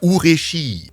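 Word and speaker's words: 嬉しい: Up there it says "Ure," and if you pronounce that together with the C, which sounds like "shi" in Japanese, it becomes "Ureshii."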